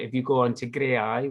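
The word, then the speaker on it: Graeae: you go on to grey eye which is um www dot gray which is spelled g-r-a-e-a-e dot org and the head of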